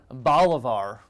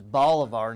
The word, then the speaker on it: Bolivar: Also there in Bolivar. It is Bolivar, not Bolivar.